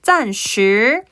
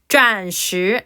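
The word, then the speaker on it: 暂: 것이다 자 그다음 표현 짠 발음하게 슈 아니고요 혀 피시고 혀 힘빼고 짠이 됩니다 자 짠이란 표현 보시면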